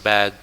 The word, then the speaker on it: bag: Ingat pengucapan bag, jangan back. Backnya punggung. Bag. G-nya dirasain.